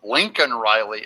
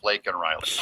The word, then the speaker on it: Laken Riley: says her name and he calls her Lincoln Riley instead of lak Riley I'd be a winner